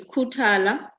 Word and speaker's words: Khuthala: zero two five yeah yeah the email is kutala can you spell that k-h-u t-a-l-a and omni no no to